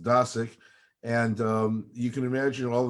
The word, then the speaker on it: Dosick: Actually, my last name is pronounced Dosick, and you can imagine